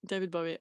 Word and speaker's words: Bowie: David Bowie.